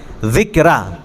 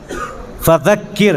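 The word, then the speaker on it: فذكر: دیکھیے یہاں پہ بھی ذال ہے، ذکرہ، یہ زبان کی نوک، ذکرہ. فذکر یہاں پہ بھی دیکھیے ہم ہی تلفظ بتاتے رہیں گے جب تک یہ درس ہوگا، بتائیں گے سیکھ جائیں گے آپ لوگ. اسی ہے نا، ذال ہے یہاں پر. فذکر، ذکر نہ کہیے، زے سے نہیں ہے.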